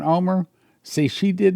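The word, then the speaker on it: Olmert: But I've heard them say it when we're in Israel, and they pronounce it Omer.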